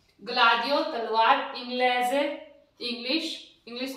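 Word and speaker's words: gladio: आ आया, जी एल आ दी ई ओ, ग्लाडियो। ग और ले बन गया ना, गल की उच्चारण आ रहा है ना, इसका उच्चारण गल में, ग्लाडियो।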